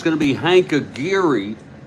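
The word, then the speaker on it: Aguirre: going to be Hank a giri I used to pronounce it a guire and then I heard Spokan Steve pronouncing it a gir so we'll go with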